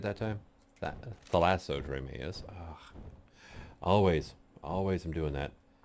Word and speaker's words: Thalassodromeus: And gonna take Zephyr here out, which is the name from my Thassalodromeus. Did I say it right that time? Thalassodromeus.